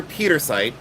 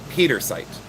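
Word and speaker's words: pietersite: So in your Petersite, this is what you want.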